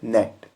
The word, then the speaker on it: gnat: इसको हम पढ़ेंगे नेट। इसको हम गैनेट नहीं पढ़ेंगे बल्कि नेट पढ़ेंगे, क्योंकि एन से पहले जी है, जी साइलेंट रहेगा।